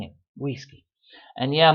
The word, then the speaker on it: güisqui: Güisqui. And yeah, most people wouldn't pronounce the G there, but that is for the other video.